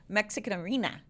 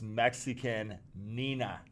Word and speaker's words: Mexicanina: Mexican Arena. 01. Subscribing for 9 months. Woo! It's not arena. Well, read it. What is it? It's Mexican Nina.